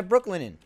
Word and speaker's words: Brooklinen: And this stream is sponsored by Brooklinen. Brooklinen Sheets. I'll tell you about them later. It's like Brooklyn. I slept on them last night, but it's not spelled like Brooklyn.